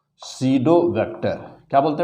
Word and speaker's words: pseudo: इसे कहते हैं ना सीडो वेक्टर। क्या बोलते हैं बेटा? सीडो की स्पेलिंग बेटा पी से शुरू होती है, PSEUDO,